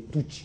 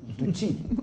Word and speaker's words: Tutsi: L'enquête qu'on vient de dégager, n'est-ce pas, confirmer que ce sont les Tutsis, on puisse tuer les Hutus, contrairement aux Hutus qui ont pu se tuer. Corrigez votre prononciation. Tutsis.